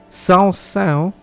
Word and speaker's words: Saint-Saëns: Was I singing the smallest church in Saint-Saëns? Then I'm not sure if I'm pronouncing it right. Saint-Saëns?